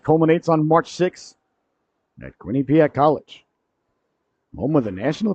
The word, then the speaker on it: Quinnipiac: Tell me the accent's on the first syllable. I don't know what that means. I think it's Quinnipiac.